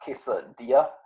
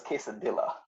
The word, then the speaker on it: quesadilla: answer but I actually did it no it's pronounced quesadilla I uh I thought it was Kissin Villa you know yeah it's funny because the same